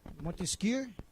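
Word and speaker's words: Montesquieu: Como é que se pronuncia? Eh, Charles de Montesqu. É isso mesmo. Monteskir. É, tem que aprender aqui. Charles de Monteskir, ele diz e na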